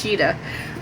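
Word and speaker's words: Tschida: By Sam Tishkaba. This Cheetah. Sam Cheetah. Okay, it says pronounced Cheetah.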